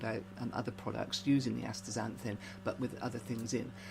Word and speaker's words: astaxanthin: with and that's facts astaxanthin it's because it's spelled with an x but you pronounce it as a z z so yeah okay